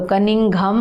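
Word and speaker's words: Cunningham: बार बार बोलो, कनिंघम, Alexander कनिंघम। और यहाँ पे देखो हेरोडोटस, हेरोडोटस। अब कनिंघम में कैसा प्रोनाउंस हो रहा है? ये कनिंघम मतलब सिंघम टाइप का आ रहा है।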